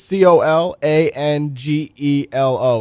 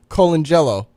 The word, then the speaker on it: Colangelo: mess up these names I'll spell it it's c o l a n g e l o and I pronounce it Colangelo Colangelo oh yeah so you got to say